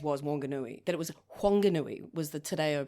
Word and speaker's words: Whanganui: And perhaps it should be said with a W because the locals say it. Whanganui.